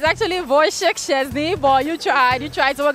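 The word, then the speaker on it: Wojciech Szczęsny: It is Wojciech Szczesny. So can you say 10 times now that I have told you how it's pronounced?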